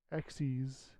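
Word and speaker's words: Xyz: basics of Yu-Gi-Oh yeah I stopped after exies apparently is how it's pronounced yeah how when that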